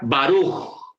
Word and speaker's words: Baruch: Si usted oye a un gringo, a un americano, nativo en el inglés, pronunciar la palabra Baruch, él no dice Baruch como nosotros. Él dice Baruch. Baruch. Porque la R en inglés es diferente.